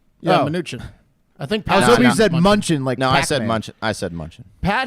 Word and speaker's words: Mnuchin: Did you that say the US Munchin? No. I said Munchin. I said Mnuchin. Yeah, Mnuchin.